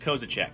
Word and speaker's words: Kozisek: okay Oh Z I s okay somehow that's pronounced kozachik yes what what what this doesn't count as